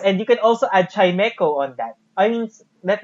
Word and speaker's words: Chimecho: It's Chimecho.